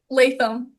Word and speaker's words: Latham: How do you pronounce your last name? Latham.